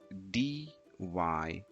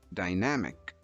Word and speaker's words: dynamic: Pronounce the word by putting emphasis on the first syllable, die, die, and then end it with namic, namic, dynamic, dynamic.